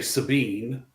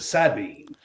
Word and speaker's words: Sabine: If you're from the Texas side, you say Sabine. If you're from the Louisiana side, you call it the Sabine. So, nice. You have to flip flop when you cross the river how you pronounce it.